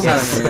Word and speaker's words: Salome: now I got the pronunciation wrong of this earlier. Salome, are we on now? Salome, that's right.